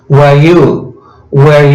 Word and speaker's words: were: Este were se pronuncia igual que donde, where. Pero cuando funciona como auxiliar y va en el medio de la oración, se va a pronunciar más débil.